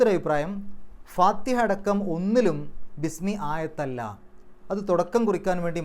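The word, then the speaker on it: بسم: എന്നുണ്ടെങ്കിൽ അവിടുന്ന് ഉച്ചരിച്ചു പോകും ഇസ്മ് എന്ന് ഒറ്റയ്ക്ക് പറയും അതേസമയത്ത് അതിന്റെ മുമ്പിൽ ബി എന്ന് വരുമ്പോൾ ബിസ്മി ആ ഇ എന്നുള്ള ഉച്ചാരണം നഷ്ടപ്പെടും എന്നാൽ ബിസ്മില്ലാഹി എന്ന് എഴുതുമ്പോൾ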